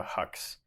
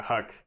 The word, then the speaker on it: HUC: Geological Survey came up with the HUCs, HUC, Hydrologic Unit Code.